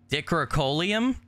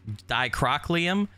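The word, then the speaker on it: Dicrocoelium: several such parasites uh decorucolium that's not how you say it dicrow dicrochliam once the larvae of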